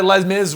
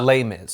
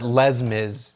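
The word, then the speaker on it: Les Mis: Yael suggests that's why Les Miz was even on his listen yeah just singing it you don't have to pronounce the S that's a lame is I don't say lame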